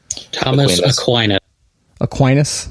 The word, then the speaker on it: Thomas Aquinas: Like Aquinas, Thomas Aquinas. How do you say that? Thomas Aquinas.